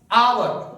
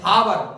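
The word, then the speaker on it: hour: Next आवर अब बहुत सारे लोग एच ओ यू आर हावर हावर नहीं पढ़ते उसको हम आवर पढ़ते हैं। आवर आवर यानी कि एच साइलेंट रहता है।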